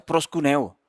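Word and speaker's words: προσκυνέω: es una palabra griega que se que se pronuncia prost cúneo y esa palabra significa reverenciar significa rendir homenaje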